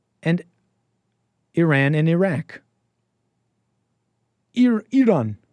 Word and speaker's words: Iran: The I is pronounced like The The I is pronounced like an E in Iraq. And Iran and Iraq. Ear Eeron Eerock Sorry.